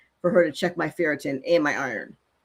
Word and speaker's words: ferritin: Ferritin?